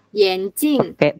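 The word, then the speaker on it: 眼睛: Ya, Yanjing. Iya, makanya aku nggak serak kalau ini dibaca A. Tapi lan, nggak semua an itu dibaca N juga. Tapi mungkin khusus untuk kata ini dia dibacanya N. Yanjing.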